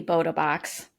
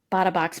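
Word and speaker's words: Bota Box: It might be Boda Box. Bought a box makes more sense to me.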